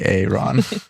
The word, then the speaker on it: Ehron: I hope I'm saying it's spelled EHRON, then Lime. I don't know if that's Aaron or Aaron or a different pronunciation, but As Canadians, we would pronounce that as Aaron.